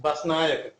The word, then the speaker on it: Basnayaka: Sinhala, it's pronounced Basnayaka. And Basnayaka would be a leader, Basnayaka. And the way a lot of Americans pronounce would be Basnayaka. Yaka would be a devil.